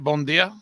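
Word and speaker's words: Bom dia: Am I pronouncing that right? Bon dia?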